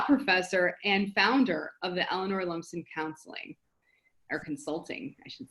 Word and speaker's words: Eleanor Lumsden: Eleanor Lumsden.